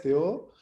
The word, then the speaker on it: Theo: de empezar quería como presentarme mi nombre es teo en norteamérica se pronuncia activo pero en francia este o como